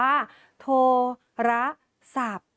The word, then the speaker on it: โทรศัพท์: คำ ว่า โทรศัพท์ ค่ะ เรา จะ อ่าน ว่า โทรศัพท์ ไม่ อ่าน ออก เสียง ค ทหาร นั่น เอง